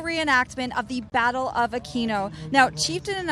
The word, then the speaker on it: Aquino: And well, apparently in Italian it's Aquino. Aquino. I do not speak Italian, but that's what they're telling me now.